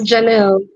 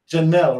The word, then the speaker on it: Jahn'll: today Janelle how are you doing am I pronouncing your name right yes Janelle Janelle right okay what a beautiful name it's good